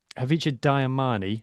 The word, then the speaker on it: Hacjivah Dayimani: So, obviously we've seen Hacjivah Dayimani.